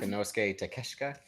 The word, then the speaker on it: Konosuke Takeshita: Konosuke Takeshita.